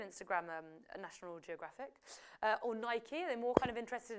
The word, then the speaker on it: Nike: Geographic is it Nike Nike you know I'm saying it properly not like Nike as the Americans say Nike football I suppose this